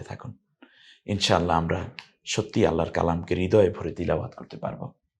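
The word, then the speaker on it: قُلْ: ইনশাআল্লাহ আমরা সত্যিই আল্লাহর কালামকে হৃদয়ে ভরে তেলাওয়াত করতে পারব এই টাকে কেন কালার করা হলো কারণ ওস্তাদজি একেবারে সোজা কারণ কারণ হচ্ছে এই কফটা একটু গম্ভীর আওয়াজে উচ্চারণ হয় তাহলে হয়ে গেল কুল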